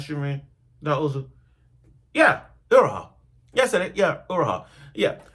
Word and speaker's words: Iroha: Yeah, Iroha.